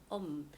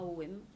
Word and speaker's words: Homme: création de l'association Archipel Homme, pas OM, Homme, comme le Homme, la syllabe de la création initiale.